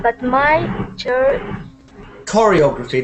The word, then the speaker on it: choreography: But my chair Choreography. This is one of those Italian words which has the ch as a k. So it's choreography.